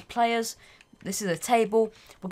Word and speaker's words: plrs: it PL RS okay just a shortened version of players I'll pronounce as players this is a table